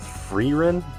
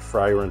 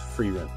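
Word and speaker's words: Frieren: to that we have I think it's called free Rin I just pronounced for you and we were calling it fry run for a while but we changed that up someone told let me in the comments that it was free rent Fruits Basket Mr meat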